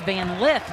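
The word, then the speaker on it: Van Lith: university of louisville our apologies it's van lift we've been mispronouncing it i'll take uh blame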